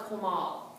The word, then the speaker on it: comal: And it's called a comal. So even though it's spelled C-O-M-A-L, it's pronounced co, so K-O-M-A-L is how it's pronounced.